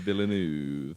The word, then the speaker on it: Villeneuve: that was right either, because it was Denis Villeneuve. Villeneuve it is. Villeneuve.